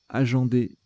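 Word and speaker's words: agender: Aginder, ça se prononce aginder.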